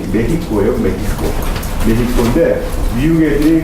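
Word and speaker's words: México: 미국 애들이 여러분들 그 멕시코 애들 비웃을 때, 비하할 때 원래 멕시코가 아니라 발음이 메히코예요.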